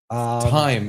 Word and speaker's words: thyme: Thyme. Even thyme. It has a TH and you don't even say it right.